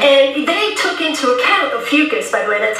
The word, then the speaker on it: Ophiuchus: And they took into account Ophiuchus, by the way, that's how you pronounce the name of that 13th sign.